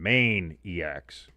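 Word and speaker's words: Maineiacs: Spelled like the state of Maine. Maine-iacs.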